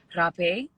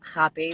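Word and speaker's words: rapé: Rape, they pronounce it like rape, but it's Oh. RAPE Oh. with the the little accent at the end.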